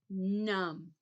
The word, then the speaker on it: numb: to see those 's how about num not num you don't say the b remember it's silent no